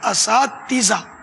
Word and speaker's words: اساتذہ: تو یہ اساتذہ ہے نا, تاکہ یہ زیر آیا, الف پر زبر ہے, اساتذہ.